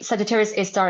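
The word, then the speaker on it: Sagittarius A*: So, um it's written as Sagittarius A asterisk, but we say Sagittarius A star is the name of our galactic um center.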